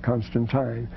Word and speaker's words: Constantine: He said Constantine because it's I-N-E. You pronounce it like English. And the English call it Constantine.